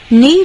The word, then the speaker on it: knee: Knee joint surgery is needed for the athlete to treat the serious sports injury. OK，knee 是膝盖，可以不发音，对不对？那 joint 是关节，OK，好，所以 knee joint surgery